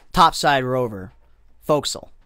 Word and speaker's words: forecastle: the fo'c'sle it's uh it's spelled like forecastle but it's pronounced fo'c'sle that's the fo'c'sle or the bow whatever